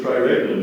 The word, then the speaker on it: triregnum: The triregnum is ornamented with precious stones and pearls. Are there any alternate pronunciations?